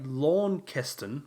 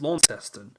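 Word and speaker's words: Launceston: but it's just Melbourne you want to say lawn Kon but it's la testing and you want to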